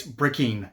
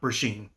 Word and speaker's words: Brecheen: Oh, by the way, I apparently mispronounced his name. It's Bicken, not Basheen.